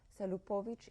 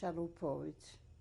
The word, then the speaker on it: Chalupovitsch: We are interviewing survivor Esther Salupovic Israel. Salupovic is Chalupovitsch. Israel is spelled Israel.